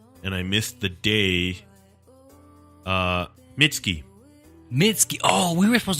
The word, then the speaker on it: Mitski: She dropped the U in her name, and it's just Mitski, so that people probably wouldn't pronounce it Mitsuki, Right.